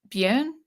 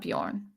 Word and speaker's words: Björn: Bjorn is Swedish Norwegian for bear, but it's more pronounced Björn, not Bjorn.